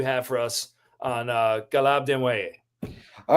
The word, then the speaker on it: Desnoyers: And it is, to all of you American hockey fans out there, it is spelled Caleb Desnoyers. But it is in fact Caleb Desnoyers, who plays in the